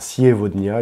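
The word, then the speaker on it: сегодня: Alors, Sievodnia, il y a un yé avant et un o après le G. Donc, ce sera un V. Enfin, ce sera une prononciation en V pour cette lettre G.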